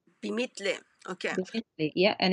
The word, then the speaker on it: بمثلي: بمثلي. Bimithli.